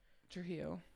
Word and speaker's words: Trujillo: Oh, Trujillo.